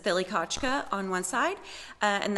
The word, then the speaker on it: Thlikachka: On either side of our Muskogee woman in the image, it says Thilikachka on one side, and that is the phonetic way to say Broken Arrow in Muskogee Creek language.